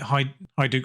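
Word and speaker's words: Hajduk: Central Defender from uh hajuk split hide I do split depending how you pronounce the J from split 4.6 million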